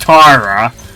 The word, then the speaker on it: Terra: H, spelled Terra, but pronounced Tara.